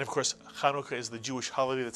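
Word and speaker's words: Hanukkah: it's khu notu butu the first syllable ISU and the second syllable is kauka kanuka and of course kanuka is the Jewish holiday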